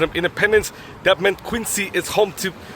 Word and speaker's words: Quincy: not appreciate the pronunciation Quincy, Q-U-I-N-S-E-E. In fact, they would demand that you pronounce Quincy as Quincy, aka Q-U-I-N-Z-E-E.